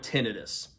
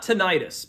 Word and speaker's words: tinnitus: So number one, let's just start with tinidis. Tinidis. And it's not tonitis, by the way. T I Ni Tus.